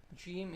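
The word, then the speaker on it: ج: our mouth, that is how the sound of Jeem is originated. Jeem, Jeem. The next Arabic alphabet is Ha. Ha. Ha is pronounced from the middle part of our throat.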